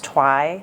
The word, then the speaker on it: Tauai: So L I S A and my last name is Twi.